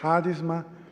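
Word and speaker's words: χάρισμα: Mas, na verdade, na transliteração não é chá, é ha. Tá? Então é harisma ou haris.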